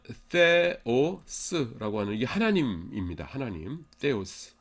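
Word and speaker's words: θεός: 하나님, theos. 그래서 하나님의 영어 헬라어 발음이 데오스도 아니고 떼오스도 아니고 theos 이렇게 해야 돼요.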